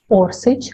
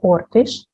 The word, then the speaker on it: Orsic: Maria Orsic, sometimes her last name is pronounced as Orsic or Ortish, was born in Zagreb, Austria, according to another version in Vienna.